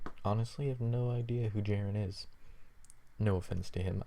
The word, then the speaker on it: Jeran: going to be bringing you my series versus Jaron which is weird because it's my little brother's name not spelled that way but pronounced how I just did but anyway um